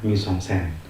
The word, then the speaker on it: mise-en-scène: Mise-en-scène, itulah tulisannya seperti itu dan dibacanya mise-en-scène.